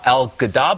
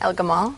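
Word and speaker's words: El-Gamal: first to you you profile the developer uh El gadab how do you say his last name El Gamal and what what is your sense of this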